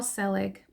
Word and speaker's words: Selig: called and even even if you follow Paul selig the last name is spelled s e l i g if you